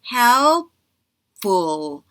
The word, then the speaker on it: helpful: 그래서 environment 이렇게 들어가야 되고 helpful 할 때 help 할 때 P발음 때문에 help 할 때 L 발음에서 혀 앞니빨 뒤로 끝까지 올라가고 P 발음 때문에 입술 다물어졌다가 다시 F 발음에 공기 뱉어야 되니까 helpful, helpful 이렇게 들어갑니다.